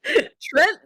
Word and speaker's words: Trient: Trent the Trent. It's spelled the same as Trent, but it's pronounced Trent. Correct. The A is silent.